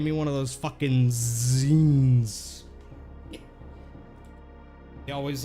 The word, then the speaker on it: ZYN: It is Zin. God damn. I really thought it was like Zine or something. I guess it's Zin.